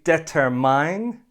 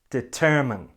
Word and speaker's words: determined: review before we finish don't say debtor mine say determined determined we need more time